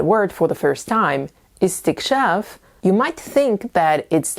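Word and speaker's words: استكشاف: But actually, there is only one possible way to pronounce this word, as it is the masdar of a verb that belongs to the 10th form.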